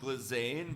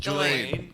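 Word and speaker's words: Ghislaine: There's no L. Lizaine. Glizaine. Who's this Glizaine now? Now it's Glizaine. Glaine.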